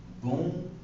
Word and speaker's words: bonjour: Alright, so now it is pronounced as bonjour.